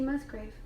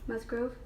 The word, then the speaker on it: Musgraves: I just forgot it Kacey Musgraves Musgrove I always say her last name wrong grave I'm sorry Casey you're